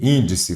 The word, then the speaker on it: índice: Vamos separar em sílabas. Índice. Então, ela é a última? Não. É a penúltima? Não. A sílaba tônica aqui é qual, caro concursando? É a antepenúltima. Se é a antepenúltima, é proparoxítono.